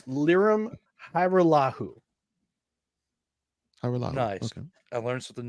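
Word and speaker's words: Lirim Hajrullahu: Well, if you want the correct pronunciation of the name, it's Liram Hajrullahu.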